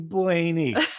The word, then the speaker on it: Blaney: So the number one lesson that we got, that I got personally, is his name is pronounced Ryan fucking Blaney.